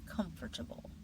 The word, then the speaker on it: comfortable: First word, comfortable comfortable The natural pronunciation is comfortable.